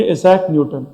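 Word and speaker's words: Isaac Newton: आइजैक न्यूटन। क्या थे बेटा? आइजैक न्यूटन। और अच्छे से प्रोनाउंसिएशन करो तो क्या बोलेंगे? इसाक न्यूटन।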